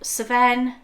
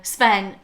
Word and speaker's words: Sven: Anna Elsa Hans Olaf seven is that how you say it no Sven how you say that Sven Sven you're pronouncing it like BR does she goes seven that's why she sounds